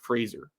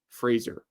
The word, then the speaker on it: Fraser: So it's Fraser. Fraser.